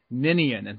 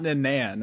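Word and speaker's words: Ninian: have to say Chris then it's pronounced ninan not Nan how do you keep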